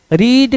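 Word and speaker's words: read: देखिए इसमें एक चीज है, अब यहां थे आया, प्रेजेंट पढ़ते थे, रीड का सेकेंड फॉर्म और फर्स्ट फॉर्म रीड ही होता है, लेकिन प्रोनाउंसिएशन क्या होता है, रेड।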